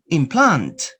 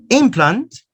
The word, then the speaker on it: implant: second syllable combine implant implant and notice you are changing the stress implant first syllable implant second syllable it's a verb concrete concrete concrete concrete